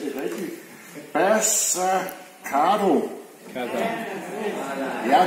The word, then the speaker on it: Bassacada: Bassacado. Ja, det ender på det A, men det er et O.